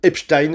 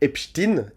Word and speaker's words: Epstein: ont du mal euh Epstein alors que pas du tout. On prononce bel et bien Jeffrey Epstein, non pas comme Frankenstein.